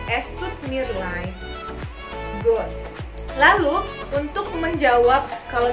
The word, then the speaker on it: leid: Genau, EI dibaca itu I ya. Es tut mir leid.